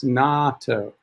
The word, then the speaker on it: natto: Mary Laborde, natto, pronounce it as natto.